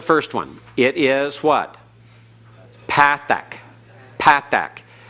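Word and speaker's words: patah: Patak. Patak. Don't switch into modern Hebrew pronunciation of patak.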